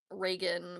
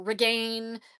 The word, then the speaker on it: Reagan: So it's Reagan, but you can R again. Ragain.